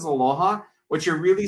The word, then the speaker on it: aloha: said with the word aloha and just by the way i wanted to break that up for you it's actually two two syllables it's a low and ha and what that actually